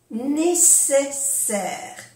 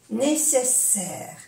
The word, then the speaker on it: nécessaire: Nécessaire. A-I-E-R. Nécessaire. Se pronuncia bien las S. Cuando hay dos S se pronuncia bien la S. Nécessaire.